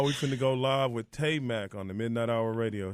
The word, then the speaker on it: Taimak: Right now, we finna go live with Taimak on the Midnight Hour Radio Show. Taimak, what's going on, man? Hi, how's everybody? It's Taimak. Taimak. Taimak, how you doing? Taimak.